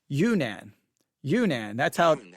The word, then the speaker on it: Yunnan: Yunnan. That's how they are pronouncing it.